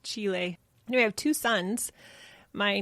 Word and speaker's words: Chile: can say it right Chile I always say Chile and they're like that's the restaurant the country is pronounced Chile we have two sons my 19 and 18-year-old